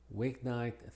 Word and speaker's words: weeknight: Weeknight, thickness, and banknote. Pasamos a la L. La L y la doble L se pronuncian exactamente igual, como una L sencilla.